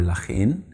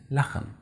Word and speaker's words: Lachen: It's not Engel or Lachen, we say Engel and Lachen.